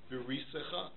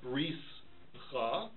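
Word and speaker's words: בריתך: There's two syllables in the word berisecha. The first syllable is beri, because that's a tnua gedol, that's a chirik malay. And the second syllable is secha. It's not bris cha, it's beri secha.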